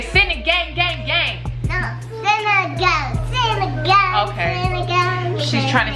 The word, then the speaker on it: sinigang: So today I am gonna be showing you guys my version of how to make sinigang gang gang. Say sinigang gang gang. No, sinigang.